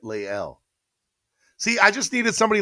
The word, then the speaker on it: Lael: Is it Lael Collins? I'm going to say it right, Lael. See, I just needed somebody like you, Von954, to pronounce it for me phonetically so that I could get it correct.